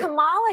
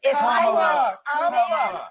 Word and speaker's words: Kamala: Let me actually pronounce her name right. Kamala Harris. Kamala.